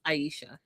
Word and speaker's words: Aisha: I learned to say her name because I listened to what the mom said and I rewound it to be like, hey, is that what she's saying? So it's Aisha.